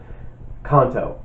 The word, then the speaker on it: Kanto: Luckily, my last name is Italian, but it's also 2 syllables. Kanto.